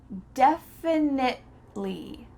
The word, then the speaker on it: definitely: Definitely, definitely. We're stopping at that T sound.